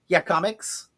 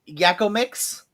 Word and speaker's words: Yakomics: It's supposed to be pronounced Yakomics. It looks like it says Yakko Mix, but it's supposed to be pronounced Yakomics.